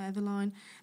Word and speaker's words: Eveline: And these are the holographic nail polishes from a brand called Evelyn or Eveline. Many people pronounce this differently.